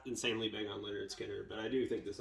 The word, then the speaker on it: Lynyrd Skynyrd: Alright, this one is pronounced Lynyrd Skynyrd by Lynyrd Skynyrd, the Florida Southern rock band.